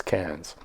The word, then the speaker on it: Cairns: So tonight we're going to be visiting two Queensland cities, Canes and Brisbane. Even though it's there's an R in there, you don't pronounce the R. It's Cans.